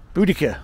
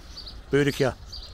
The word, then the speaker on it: Boudicca: this one that's great boudica or bodies here pronounce it how you will Britain making strong Fierce warrior women since 30 A.D well Boudicca just great and next